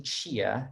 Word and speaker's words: Chia: My surname Chia is actually an anglicized pronunciation of the Chinese word "xie," which for those of you who understand Chinese, it actually means thanks.